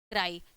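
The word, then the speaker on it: cry: आर वाई ठीक है सी आर वाई को क्या हम करेंगे इसका क्या उच्चारण होगा क्राई ठीक है यहां पे बड़ी ई आ गया क्राई अब क्राई मतलब आप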